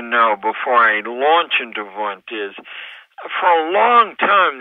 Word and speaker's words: Wundt: Well, Wundt is how it's pronounced, although it's spelled Wundt.